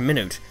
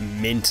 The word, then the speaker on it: Minit: everybody welcome back to minute hour minute however it's pronounced I kept calling it mint last time I am sorry the name of this 100% definitely not mint anyhow I don't actually